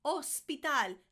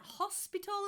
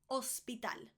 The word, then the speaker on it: hospital: Hospital. Hospital. Not hospital like in English. Hospital. Hospital. The H is there, but it really isn't.